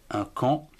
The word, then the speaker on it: camp: ou encore un cran c'est à m p11 camp ou alors un champ c'est h à m